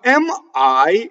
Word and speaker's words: mi: Now, mi is a weak monosyllable. So, if you double the T in this instance, you are incorrect.